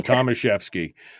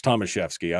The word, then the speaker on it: Tomaszewski: i i that's fine tomaszewski i mean there's no ch or f or anything else in there but it's tomaszewski i'm sure that's exactly how